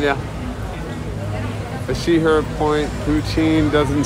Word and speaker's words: poutine: Vicky, it's spelled P-O-U-T-I-N-E.